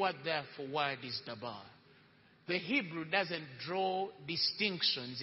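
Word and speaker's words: דָּבָר: Or actually, in the true pronunciation, davar. Even though it's written as D-B-A-A-R, D-A-B-A-R, it's pronounced as davar, right?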